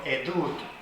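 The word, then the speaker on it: עדות: La palabra testigo, testimonio en hebreo, que se pronuncia testimonio, edut, y testigo, ed.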